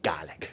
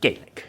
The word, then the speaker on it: Gaelic: say cheers and garlic the scots say garlic they don't say gaelic okay so uh the